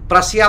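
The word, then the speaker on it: Prussia: Powers Britain, Austria, रसिया, प्रसिया बोलते हैं या प्रसा बोलते हैं, दोनों बोलते हैं, जो बोलना है बोल दीजिए, एक ही बात है, बट एक्चुअल प्रोनाउंसिएशन प्रसा होता है।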